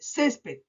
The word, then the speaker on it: césped: ¿Cuántas sílabas tiene césped? Césped. 2 sílabas. Césped. ¿Dónde se carga la voz? Última, penúltima. Ah, y yo, según la regla de acentuación, aprendí que las palabras que se carga la voz en la penúltima sílaba son graves.